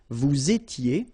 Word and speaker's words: vous étiez: S not pronounced, remember, vous étiez, same thing here, little liaison, and then ils étaient, liaison as well, elles étaient, alright?